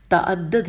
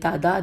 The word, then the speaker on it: تعدد: ہجے کر دیتی ہوں، تعدد ہے، یہ تعداد نہیں ہے، میں نے غلط پڑھ دیا، تے عین دال دال اور پہلے دال کے اوپر تشدید ہے، تو تعدد ہو گیا، اور ازواج الف ز